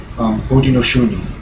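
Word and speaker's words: Haudenosaunee: own native language um they were known as Bodi noi is pronounced umod shuni or it roughly translates into English um the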